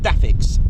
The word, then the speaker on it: DAFCS: as dafs or DFCS dafcs pronounced daix now greatly enhancing handling